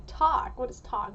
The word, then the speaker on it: 떡: So, I went to the store and I didn't know how to pronounce this thing. So, I just said, "Dock."